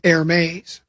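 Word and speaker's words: Hermès: And my handbag expert says it's pronounced airmes.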